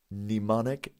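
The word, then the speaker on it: mnemonic: It's spelled at the beginning with an MN. Can somebody write it in the chat? Nemonic device.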